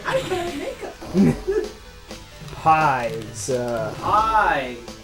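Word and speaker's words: Pai: Pie. It is pie, right? Yeah, That's yeah. how it's pronounced.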